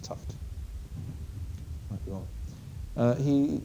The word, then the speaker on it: Tufte: crack describes TFT critiques you will also hear tuft's name pronounced as tuy or tufty I think it's toughed might be well uh